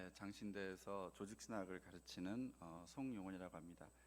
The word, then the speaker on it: 조직신학: 장신대에서 조직신학을 가르치는 송용원이라고 합니다. 발음을 정확히 안 하면 조진신학이 되기 때문에 조직신학을 가르치는 송용원이라고 하는데요.